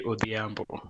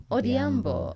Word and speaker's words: Odhiambo: So you'll probably say Odhiambo. Odhiambo.